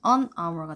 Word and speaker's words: hour: 이런 경우는 H이지만 발음 자체는 A로 갔잖아요. 그래서 이게 묵음이거든요. 그래서 발음이 an hour가 돼요.